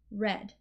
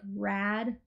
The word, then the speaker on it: red: so red we have a r e short e red so we don't want to a a like rad oh that's so rad red and we don't really